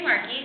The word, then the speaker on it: Marchi: My name is Marchi, again, that's how you say it.